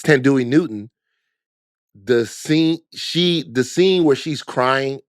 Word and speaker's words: Thandiwe Newton: It's Thandiwe Newton.